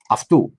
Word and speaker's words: αυτού: It's not oe, it's u.